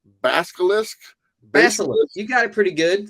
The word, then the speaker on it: Basilisk: I could never pronounce this name right. Basilisk. Basilisk.